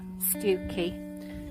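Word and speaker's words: Stiffkey: singham is on the river stookie which is spelt stifky so that's called old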